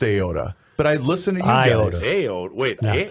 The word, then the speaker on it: Iota: It's Iota, not Iota. I've lived in Winona County for decades. Not until I heard your show have I ever heard Iota pronounced, or rather mispronounced, as Iota.